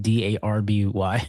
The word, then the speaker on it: Derby: Every time in my notes when I have to say bass derby or something like that, I spell it d a rb y.